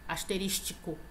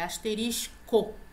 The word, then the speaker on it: asterisco: Então a pronúncia é asterisco, não é tico, asterístico, não, é asterisco.